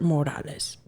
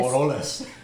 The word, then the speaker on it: Moroles: Morales. Wait, is it Morales or Moroles?